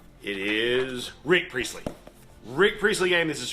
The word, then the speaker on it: Rick Priestley: This is a Nick Priestley game. Rick Priestley? Nick, wait. I want to say his name right. It is Rick Priestley.